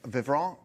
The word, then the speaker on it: Vivront: link to both the vivon did I say it right V you did nice depends if you're French or not uh and J Morton